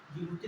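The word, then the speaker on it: Djibouti: Somalia, Ethiopia, Eritrea, जिबूती, जिबूती लिखा था, D silent होता है, ये 4 देश, ठीक है।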